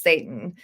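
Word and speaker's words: Seyton: is spelled s y t o n and pronounced Satan so he's he's actually hanging out with Satan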